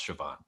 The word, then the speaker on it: Siobhan: now is that I have learned how to pronounce Siobhan.